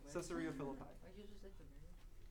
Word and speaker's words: Caesarea Philippi: Caesarea Philippi.